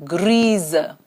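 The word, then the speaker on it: grise: here and this becomes greaser when the S comes between two vowels the sound is zu this you would know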